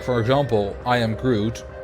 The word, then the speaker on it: groot: for example um like a double o for us is pronounced like an o like in both you can say that like for example i am groot groot is actually like g-r-o-o-t